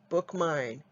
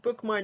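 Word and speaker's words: BookMyne: your app store and bookmine is spelled b-o-o-k-m-y like my and e the digital catalog and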